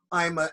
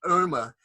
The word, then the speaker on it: Ima: Yes, Ima is difficult to pronounce. It's not Irma, it's Ima.